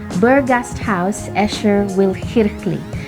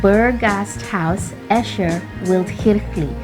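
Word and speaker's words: Berggasthaus Äscher-Wildkirchli: when you go to Switzerland, you're able to pronounce it correctly. So it is called Burgasthaus Escher Wildkirchli. Again, it's called Burgasthaus Escher Wildkirchli.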